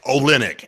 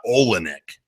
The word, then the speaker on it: Olynyk: and Kelly Olynyk and somebody tell Hubie Brown it's Olynyk everybody saw him play at Gonzaga everybody knows how to say his name for Christ's sake he ripped a shoulder socket wide open of Kevin Love everybody knows who Kelly Olynyk it's it's not Olynyk somebody please explain to